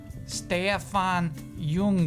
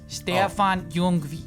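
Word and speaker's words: Stéphane Jung: do my best here is pronounced stay F on young movies whoa that's what the robot we like somebody just said like the robot says it like this staphon young okay cool the second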